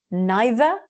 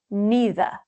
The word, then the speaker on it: neither: ti, porque una or neither. Both are correct. Use whichever pronunciation you feel more comfortable with.